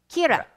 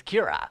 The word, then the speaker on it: Kira: The crowd in general begins calling him Kira. The Japanese pronunciation of killer.